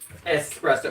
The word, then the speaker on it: espresso: Why do people keep pronouncing it espresso? It's not even phonetically pronounced that way. Even if you wanted to phonetically pronounce it, it's pronounced espresso. It's just two S's. There's no X in that word at all.